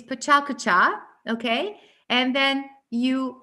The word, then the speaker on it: PechaKucha: It's Pechakucha, okay? And then you pronounce it in this way.